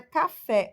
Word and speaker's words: café: Exemplo aqui da palavra café. O fé é a sílaba tônica, tá?